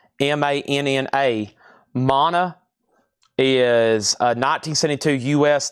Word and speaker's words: Mana: And this is pronounced Mana. M A N A.